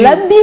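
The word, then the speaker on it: labim: C'est l'abim, on a dit, ou l'abim? Non, c'est L-A-B-I-M. L'abim. L'abim. L'abim. C'est la prononciation en fait.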